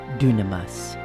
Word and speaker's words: dunamis: for myself and others I don't use Jimmy Walker's pronunciation but I sometimes use the Greek word dunamas which is typically translated